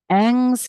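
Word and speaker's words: Ingres: Venus even in um Ang's case if you've ever wondered how to say this artist's name it's sort of Ang French you know for getting a whole bunch of letters in this case we have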